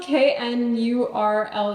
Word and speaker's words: knurl: It's spelled Knurled. Is it knurl or gnarl? I don't know, but I like it. Shoot, let me look it up. What's the consensus? So yes, it's called knurl.